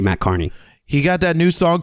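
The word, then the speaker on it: Matt Kearney: song it's spelled Kierney you would think it's pronounced that way but it's actually Matt Carney he got that new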